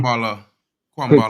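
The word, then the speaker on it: Kambwala: Kwambala. Thank you. Somebody that can actually pronounce it, not me.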